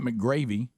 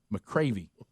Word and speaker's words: McCravey: It's not McGravy, McCravey.